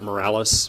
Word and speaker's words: Morales: sir come on commissioners my name is Morales Morales is spelt em I are a ll es I'm